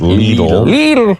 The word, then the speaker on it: Lidl: to tell me that the grocery store of little is pronounced leader and I'm sorry -